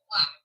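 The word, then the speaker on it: Bleigh: Okay, my maiden name is Black, but it's spelled B-L-E-I-G-H.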